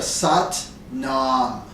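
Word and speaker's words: Sat Nam: it uses the Mantra sat Nom sat Nom it rhymes with butt mom so satn satam means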